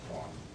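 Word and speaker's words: Quon: is a united states i think it's pronounced quan forgive me if i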